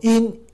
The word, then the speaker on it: 应: 啊，我应欲，那个要念成第四声，我应该